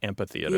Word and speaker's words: amphitheater: that H yeah yeah just like an Amphitheater instead of Ampitheater yeah yeah that one's gaining ground so I wouldn't be